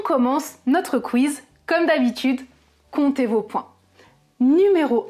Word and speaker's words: compte: du verbe compter et je ne prononce pas le P en compte il compte même prononciation